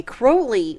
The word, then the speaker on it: Crowley: name by the way Crowley renamed himself because he wanted it to rhyme with holy but you know be you know an inversion of that so you know he's